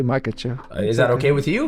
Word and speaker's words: Makhachev: How do you pronounce? I want to make sure I say your last name right. Makachev. Makache. Makachev. I was wondering I don't want to get in a fight right now. Makacho.